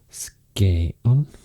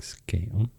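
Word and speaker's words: Skåne: the other side skon that's so funny because I would say Skagen in Swedish but I have learned now it's pronounced a bit or quite a lot difference to what I would expect you say something like SC on um and then R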